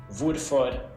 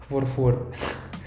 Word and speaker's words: hvorfor: And with all these question words starting with HV, we don't pronounce the H. We write it, but we don't say it. So we say hvor, hva, hvem, hvorfor, når, hvor gammel, hvordan.